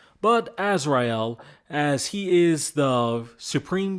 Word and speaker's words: Azrael: And yes, to everyone else, Azrael is a Hebrew name. It is a biblical name too, so it's said different than kind of how it's spelt. But Azrael, as he is the